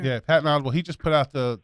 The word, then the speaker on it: Patton Oswalt: I think I just said his name wrong. Holy cow. No, I think it was right. Patton Oswalt. Yeah. Patton Oswalt.